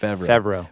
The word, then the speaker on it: Favreau: Favreau.